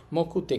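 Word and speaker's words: 目: আর এই কাঞ্জিটর উচ্চারণ হবে মে এবং উচ্চারণ হবে মকু। দুইটাই হতে পারে।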